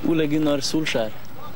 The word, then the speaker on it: Ole Gunnar Solskjær: The first question I'd like to ask you is, how do you pronounce your name? Ole Gunnar Solskjær.